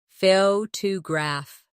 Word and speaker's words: photograph: Now, photograph. The stress is on the first syllable, photograph.